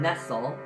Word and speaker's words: Nestle: Please, so, in the video, and he quotes, Jeff Nelson quotes Marion Nestle. That's how it sounds, not spelled, no, it's spelled like Nestle.